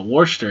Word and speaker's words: Worcester: massachusetts i've been to uh worcester i think is how you say it but it's like it's